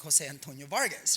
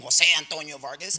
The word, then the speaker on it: Jose Antonio Vargas: you know I'm like why do they saying my name like that I've always said my name Jose Antonio Vargas like a gringo right why why because